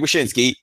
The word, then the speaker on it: Wyshynski: Greg Wyshynski.